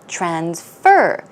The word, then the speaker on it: transfer: that means to send now you may have noticed I stress the second syllable transfer transfer it means it is a verb so speaking of ATMs